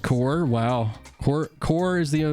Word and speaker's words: corps: divisions of the military it's pronounced the french way oh cool it was